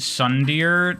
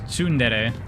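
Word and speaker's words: tsundere: You always pronounce it sun dear. Uh, well, it's a Japanese word, so I pronounce it the way a Japanese person would pronounce it, which is sundere.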